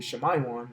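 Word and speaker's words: Shimon: From the man Simeon and and how you pronounce it in Hebrew, Shmayon, which means affliction herd.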